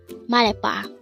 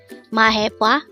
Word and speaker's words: 말해봐: MALHAEBWA. It is pronounced as a three-syllable word. The first syllable is mal, second syllable is he, and third syllable is bwa. Pronounce it with me. MALHAEBWA or MALHAEBWA.